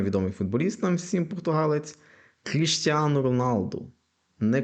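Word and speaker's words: Cristiano Ronaldo: футболіст нам всім португалець Кріштіану Роналду не Кріштіану Роналду не Крістіано Роналду а Кріштіану Роналду тобто в кінці у як в імені так і фамілії Кріштіану Роналду щоб прізвище що ім'я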